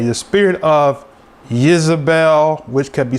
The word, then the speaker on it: Izebel: of isabel which is the way you say her name in hebrew it's not jezebel because there's no j in hebrew right so her name couldn't have been jezebel so it had to be without jay so the j has